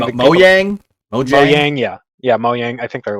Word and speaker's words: Mojang: Microsoft did it with Mahjong, or however you pronounce that company's name. Mojang.